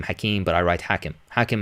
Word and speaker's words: Hakim: I pronounce my name Hakim, but I write Hakim.